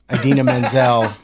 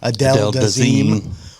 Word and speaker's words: Idina Menzel: I mean, it was like, it's not worse than John Travolta calling Idina Menzel Adele Dazeem.